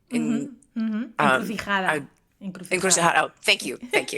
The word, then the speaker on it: encrucijada: And then Crossroads as well, which was in Encrucijado. Encrucijada.